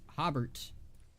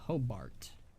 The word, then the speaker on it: Hobart: although I'm pronouncing his I've been pronouncing his name wrong this whole time again for the longest time I thought it was hob hobbert it's a Hobart hello there that was